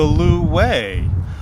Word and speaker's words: lu wei: meat underneath the rose ducks that is the Lou way but at those usually cantonese-speaking restaurants in Chinatown